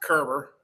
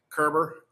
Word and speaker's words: Koerber: name come from uh it's pronounced Kerber so rhymes with Gerber remember ger baby food so Kerber um it is actually